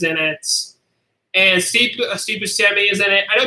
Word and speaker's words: Buscemi: Ana Montana is in it and seek Steve Buscemi is in it I know people say for Chevy but I heard him an interview say his name is actually pronounced Buscemi so that's what I'm doing that way and